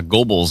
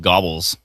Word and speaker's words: Gobles: Uh, Gobles as well, but uh, I used to only because I initially thought it was called Gobbles, but it turns out it's called Gobles.